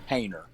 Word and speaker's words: Hoehner: It's Hainer. Hainer. Okay. I Yes, thought sir. it was Hainer. And I hear people say Hoehner all the time, and I'm like, I don't think that's right.